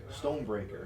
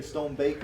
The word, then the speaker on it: Stonebraker: Stonebraker. It's not that hard of a name to pronounce. Well, you- You always start saying Stonebaker.